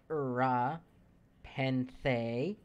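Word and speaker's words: Rura Penthe: Ura, Penthe. But the first R is silent because reasons?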